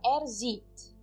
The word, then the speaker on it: sieht: E, de novo, eu não estou pronunciando o H no verbo conjugado também. Sieht. Eu apenas dou uma entonação longa, maior no I.